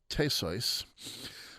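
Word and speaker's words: Theseus: by her Earth lover teso uh that's the German pronunciation you might have thought it was Theus and she realizes that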